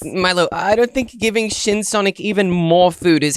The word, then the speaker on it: Shin Sonic: No, Milo, it's Shin Sonic, not Chin Sonic.